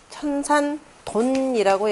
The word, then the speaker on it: 천산돈: 그래서 위에서는 창조한다라고 하는 천지초매라고 하는 둔에 해당되고 그 다음에 여기서는 그래서 일정 정도 다시 쉰다라는 의미에서 천산돈이라고 여기서는 발음을 합니다.